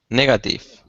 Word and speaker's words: negative: I think this word has 3 syllables. The stress is in it. The stress syllable is the first. is the first, so it's pattern A.